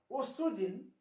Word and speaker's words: estrogen: Estrogen, OESTROGN, estrogen, progesterone, PROGS, progesterone. How to pronounce?